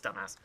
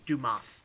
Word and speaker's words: Dumas: off uh dumbass yes his name is dumbass I'm sorry it's pronounced Dumas so yes we're actually